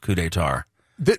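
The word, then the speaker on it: Coup des Tartes: it looks like CP de Tarts but it's pronounced cou d' tar th this is a very naive question so once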